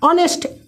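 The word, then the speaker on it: honest: अगर बात किया जाए ईमानदारी, इसको इंग्लिश में लिखना हो तो कैसे लिखेंगे? ऑनेस्ट, ONEST, ऑनेस्ट।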